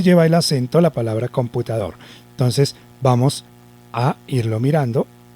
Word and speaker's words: computador: computador un computador cierto ahí lleva el acento por lo tanto esa es la última cita porque miren que después de allí ya no tenemos más sílabas quiere decir que el computador lleva el acento en la última sílaba lo cual significa que